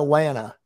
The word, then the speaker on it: Lana: lena lana you're right see i can't even pronounce it lana elena lana but it's lana anyway sorry about that so